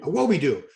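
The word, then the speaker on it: Awodibu: Unless Blessing Awobidoo, the boogie, Awobidoo, let me say it right, Awobidoo.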